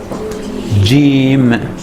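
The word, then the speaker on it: جيم: This Jim letter, the way it's pronounced, J, like J in George, or Jason, J in Jason.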